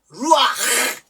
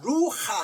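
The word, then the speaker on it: רוח: 땡땡이친 거야 이게 뭐냐면 발음이 요렇게 돼 루하가 아니고요 하는 발음 앞에 요거는 요걸 우리가 어려운 말로 파타 타브라 그러는데 이게 뭐냐면요 이거를 먼저 발음하고 이리 가라는 거예요 시겠어요 그니까 루하 이렇게 보통 읽는 건데 그게 아니고 하는 강한 바람 앞에서는 루 아 루 아 이렇게 되는 거예요 그 바람이 확 나오죠 루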